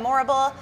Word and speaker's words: Morrible: she played the role of Madame Morrible which we just said rhymes with horrible horrible or adorable or adorable I love that as